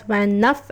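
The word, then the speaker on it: vingt-neuf: 29, which is pronounced as Van Nuff and is written as VENJ ashte NAUF.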